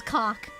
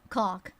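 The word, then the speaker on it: Cocque: Cock, the cockroach. It's spelled C-O-C-Q-U-E. Thank you very much, it's French. Like coq magnifique.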